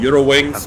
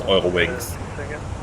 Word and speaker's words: Eurowings: why do you say oil wings um that's the German pronunciation of it and that's how the